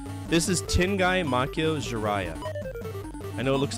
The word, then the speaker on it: Ziria: enemy encounters dude right this is tingi Mako jarah I know it looks like ziria but it's pronounced jarah like jariah from Naruto I mean hell we